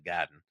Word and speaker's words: Garden: But you could always go to Boston Garden or as it's more properly pronounced, the Gaden and and and you could get into a Celtics game with no problem.